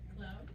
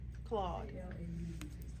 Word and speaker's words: Claude: You said Poe, how do you spell that? P-O? P-O-E. P-O-E, Poe. And the other one is Cloud? It's inside Poe. Mm-hmm. Claude.